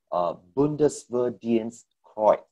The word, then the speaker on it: Bundesverdienstkreuz: It's called Bundesverdienstkreuz. So that's how it's pronounced.